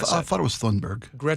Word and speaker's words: Thunberg: You mentioned Tunberg a second ago. Uh, this was her in 2019. Is it Tunberg or Tunberg? How do you pronounce that? I thought it was Thunberg.